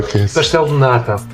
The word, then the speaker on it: pastel de nata: How do you pronounce it? Whilst I've got you know. Pastel de nata.